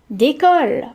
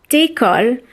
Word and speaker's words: décolle: Okay, so the first word is décolle or décollage. That's spelled D, E with an accent, C-O-L-L-E.